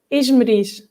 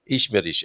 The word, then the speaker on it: Esmeriz: And we say Esmeriz. Esmeriz. Okay, I had 50-50 in my mind. Do I go for Esmeriz or Esmeriz?